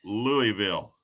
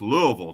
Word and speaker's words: Louisville: but i'm doing good how do you pronounce louisville louisville you know i'm from that area there originally and it's pronounced louisville down there uh ask ask josh